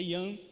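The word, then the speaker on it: Jan: a língua é a língua checa ea língua pronúncia é e arroz igual nome é joão mas é ian igual com você falar e hannes né ii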